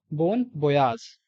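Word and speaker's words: bon voyage: Remember, बोन बोयाज, this is the pronunciation, बोन बोयाज।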